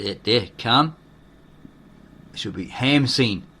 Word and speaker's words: Khamsin: desert, known as the Khamsin, so that there, Kham, should be Hamsin, right? Because in the Egyptian, you don't pronounce the K.